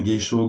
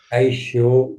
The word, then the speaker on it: Kaisho: je les prononce bien, Geisho, Gosho et Sosho. Aisho, Gyosho, Sosho.